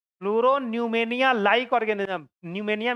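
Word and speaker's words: pneumonia: न्यूमेनिया में P silent होता है, ठीक है ना?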